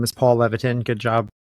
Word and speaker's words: Levitin: know as you said my name is Paul Levon good job pronouncing it right lots of people don't get